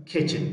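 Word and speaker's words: kitchen: کله اس نه وروسته ټي راسي د جملې په منځ کې وي بیا ټي نه تلفظ کېږي. او ټي اچ له ټي نه وروسته که چېرته سی اچ راسي بیا هم ټي سایلنټ.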